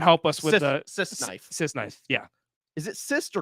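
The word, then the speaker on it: crysknife: didn't yeah well someone help us with the pronunciation of that he says Cuban says Chris knife it's how it's said nope lights there we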